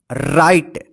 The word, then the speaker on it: write: तो यहां पे देखिए राइट डब्ल्यू आर आई टी ई राइट मत लिखिए राइट इसको पढ़ा जाएगा ठीक है ना राइट